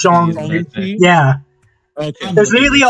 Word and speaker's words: Shang-Chi: It's Shang-Chi? Like the word song, but like a little bit slurred. Yeah, it's Shang-Chi.